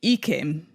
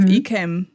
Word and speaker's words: Ikem: So if you say Ikem, that's wrong. Mm-hmm. But Ikem is the correct thing, yes. Is the correct version.